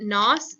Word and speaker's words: know: English language and so we don't pronounce the K just like they didn't pronounce the G back then okay so a couple